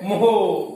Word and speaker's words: mho: तो इसको कैसे कहोगे? मोहो। मोहो कैसे कहोगे? भौंकना नहीं बेटा, कोई लोग कह रहे हैं भौं भौं, ऐसे नहीं, मोहो कैसे बोलना है?